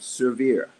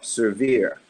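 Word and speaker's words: SERVIR: benefit of humanity is program called severe and I'll spell it for you it's SCR vir severe and it's a program that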